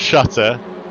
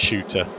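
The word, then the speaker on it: Schutter: us to save it it's not shooter it's not shutter it's not Carl shutter it's Carl shooter so there we go his name's pronounced shooter thank you very much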